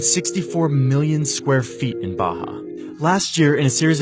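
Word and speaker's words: Barra: the west of the place called Baja ours are pronounced like H in Portuguese this is a new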